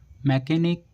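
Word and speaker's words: mechanic: Next rule है जब किसी वर्ड के बीच में सी एच आए तो सी एच को का से पढ़ते हैं।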